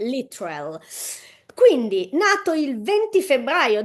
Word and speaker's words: Littrell: a quanto Ah neanch'io in America sbagliavano a pronunciare il cognome di Brian dicendo se non ho capito male lit trell Eh sì sì sì sì io genu io da italiana che italiana l'ho pronunciato bene anch'io da italiana che non sapeva una parola di inglese all'epoca l'ho sempre pronunciato giusto Comunque a quanto pare è lital quindi nato il 20